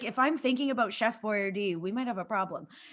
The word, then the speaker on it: Boyardee: They changed the way they say his name to sound more Italian. I'm like, he's not. It's like Boyardee. I'm like, shut the fuck up. It's just say what it is.